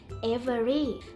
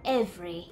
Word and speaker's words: every: ม่ ไ ด้ อ่ า น ว่ า every เ ร า อ่ า น ว่ า every โ ด ย ที่ เ ร า จ